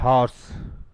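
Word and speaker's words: horse: हॉर्स इसमें are silent रहता है। हॉर्स हॉर्स क्या पढ़ा जाता है इसको?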